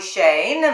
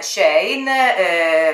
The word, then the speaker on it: Shein: Glam così come Shein, mi verrebbe spontaneo usare la I al posto della E, ma la mia referente mi ha espressamente, dello staff, mi ha espressamente scritto che la corretta pronuncia è con la E e non con la I.